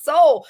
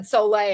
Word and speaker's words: sole: so I didn't realize when Wendy said soay and I'm like I've always called it Soul so I it's it's spelled s o l e and um so anyway I went back and listened to multiple practitioners that recommend it and they all said soay and I'm like all